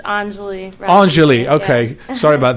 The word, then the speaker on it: Anjali: No worries, it's Anjali.